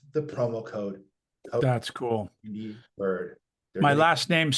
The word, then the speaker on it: Byrd: Bird.